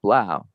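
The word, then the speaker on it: 3LAU: is three lau on the internet but it's pronounced blau you know his his album sold for 13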